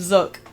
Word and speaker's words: Zook: most happening guy around is it zook or zuk I'm going to say zook why cuz look zook yeah butell like look it's zuk like bazooka I would know there's a Skylander named zuk it's spelled like look it's also smell like bazooka Z sorry doesn't begin